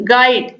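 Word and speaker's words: guide: Question number 18 है विच letter is silent in the word गाइड, UID या फिर जी। दोस्तों राइट आंसर है ऑप्शन ए यू, गाइड।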